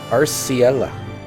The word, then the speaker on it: Arciela: Arciela. Taking that as the canon pronunciation till SE tells me otherwise. Arciela.